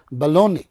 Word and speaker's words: Bologna: यस, ये है Bologna, but the pronunciation is Bologna, so G is silent here.